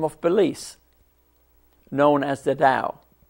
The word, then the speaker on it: Tao: beliefs known as the Tao, spelled T-A-O, but pronounced just like Dow Jones, the Tao. The symbol of the Tao is to your left, to my right, over my shoulder.